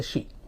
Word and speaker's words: Shi: उसने कहा कि मेरा नाम शी पी पू है। जो स्पेलिंग थी, शी SHE नहीं बल्कि SHI, लेकिन उसको प्रोनाउंस करते थे शी।